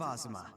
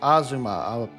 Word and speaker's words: Azuma: Rune Factory, Guardians of Ozma. Oh, it's present. is pres is pronounced Azuma.